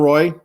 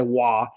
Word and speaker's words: Roy: by white cloud and Roy or wah I should say wah that the Kings have Roy the golden knights have wa they're spelled the same but whatever get the